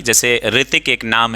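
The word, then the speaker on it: Hrithik: ग्रह दशा थी जिसे रितिक एक नाम है तो कई लोग हा आर आई टी आई के लिखने हैं हा आर आई टी आई के तो ये हा साइलेंट नहीं है रितिक की स्पेलिंग होती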